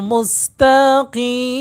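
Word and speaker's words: مستقيم: দেখেন লক্ষ্য করেন উচ্চারণ কি হবে। ইয়াকাবুদ টান হবে। তাইলে লক্ষ্য করুন আমি কিভাবে বলছি শোনেন আপনারা শুনে বুঝে উত্তর দিবেন মুসতাকি লক্ষ্য করছেন মুস্তাকিম লক্ষ্য করুনদিনা মুসতাকি আমি কিভাবে বলি আপনারা শুনবেন শুনে শুনে আবার আমার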